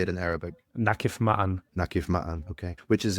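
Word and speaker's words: نقف معًا: Nakif Ma'an.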